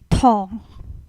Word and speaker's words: 糖: also mean sugar, but when you say sugar, the tone will have a bit different. Instead of 糖, we will pronounce as 糖糖. So you can see there's a change of the tone.